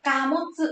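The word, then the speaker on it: 貨物: Hàng hóa chúng ta sẽ đọc là Kamotsu nha các bác.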